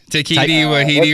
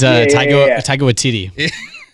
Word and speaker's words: Taika Waititi: Takiti Wahidi or whatever his name is. It's Taika Waititi.